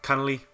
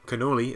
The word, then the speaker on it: Cannoli: mania guns go and connolly cannoli cannoli is the right way to say that murder soul suspect alkalize